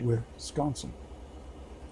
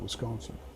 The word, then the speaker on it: Wisconsin: They pronounce it Wisconsin. Wisconsin. I pronounce it Wisconsin. Wisconsin. They pronounce it Wisconsin. So they put the emphasis on the S. I put it on the C.